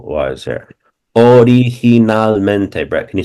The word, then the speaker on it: originalmente: If a word is ever long, break it into syllables, and it seems originalmente.